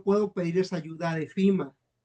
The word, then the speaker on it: FEMA: FEMA se escribe FEMA, lógicamente aquí le lo pronuncian como FIMA.